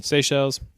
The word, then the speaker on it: Seychelles: Well, since 2016 when he was doing that like weird shit in, how do you pronounce that country? Seychelles.